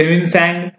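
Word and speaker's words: Hiuen Tsang: तो जो Chinese Pilgrim थे वो थे ह्यूइनसैंग। और देखिए ह्यूइनसैंग में आई साइलेंट रहता है और सैंग में टी साइलेंट रहता है।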